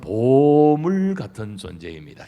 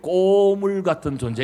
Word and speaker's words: 보물: 당신은 보물 같은 존재입니다. 시작. 근데요, 발음을 잘 하셔야 돼요. 꼬물 같은 존재 이러면 안 됩니다.